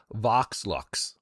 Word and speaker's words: Vox Lux: It's Vox Lux. Vox. I can't even pronounce it.